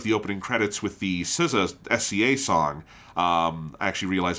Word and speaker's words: SZA: opening credits with the SZA SCA song. I actually realize I don't know. Is it like RZA or is it said SCA? I think it's pronounced SZA out loud.